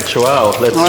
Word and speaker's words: Chuao: How do you pronounce it? Chuao. All right, Chuao.